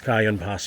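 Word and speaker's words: Cajon Pass: We've been pronouncing it wrong, I keep forgetting that it's a Spanish translation. But the Anglo-American, let's call it, way of saying it, it's Cajun Pass from now on.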